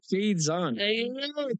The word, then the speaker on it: Shaidzon: So Shaidzon. That's what I like. it's right there. Don't you know what the second vowel does to the first vowel?